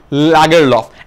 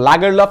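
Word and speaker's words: Lagerlöf: নারী বিজয়ের নাম সালমা লাগার লফ এখন সুইডিশ নেম এটার দুটো উচ্চারণ আছে একটা হচ্ছে লাগার লফ একটা লেগার লফ তোমরা যেটা উচ্চারণ করতে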